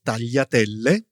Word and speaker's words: tagliatelle: Okay, so then there's the GLI, which I think is one of the hardest sounds for English speakers. Yes, Tanya, it's pronounced yi. You hear it in words such as famiglia or tagliatelle.